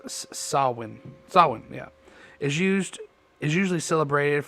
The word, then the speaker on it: Samhain: In modern times, Samhain which is also a Gaelic word pronounced Samhain. Samhain, sorry, that's what it's pronounced Samhain.